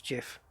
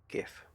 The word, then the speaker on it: GIF: a simple Google away the correct pronunciation is not gif sorry I know it it probably should be it probably should be gift because the the G stands for graphics which is a which is a girl so it in effect it should be but if he invented the format and he says I want to pronounced like this then what can you do what can you do